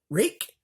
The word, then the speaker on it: Rike: first right knife so rake rake and our I ke is how the name is spelt wreck knife and I